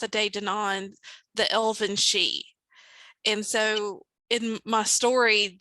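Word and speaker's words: sidhe: or you spelling that s-h-e no it's pronounced she like s-h-e-e but it is spelled s-i-d-h-e s uh d a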